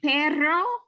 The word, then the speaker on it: perro: Okay, If you have perro, then that's Yeah. a dog. right, okay, got it. But if we have pero, then that's butt.